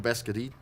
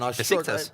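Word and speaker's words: Beşiktaş: Good play there from BESKTAS. My goodness, I'm struggling to say it again. BESIKTAS.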